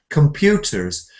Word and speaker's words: computers: We say computers. So the pute is the stress.